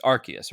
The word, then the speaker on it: Arceus: Has Ash met, is it Arceus or Arceus? It's Arceus, right? Arceus is the current accepted official name. All because of British, and they use the beginning syllable of that to mean something else.